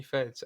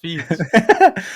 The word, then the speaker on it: Feeds: Since I made my channel back in 2021, you've always called me Feds, and I never understood why. And then, you know, conveniently somehow, you always miss my messages where I say it's actually pronounced Feeds.